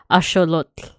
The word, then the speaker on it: axolotl: Which I found out the pronunciation, if you want to like have an accurate pronunciation, it's actually axolotl. You have to have that TL sound.